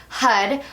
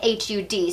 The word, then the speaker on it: Har: So we're going to chant the mantra HUD, which is spelled like H-A-R but pronounced like H-U-D.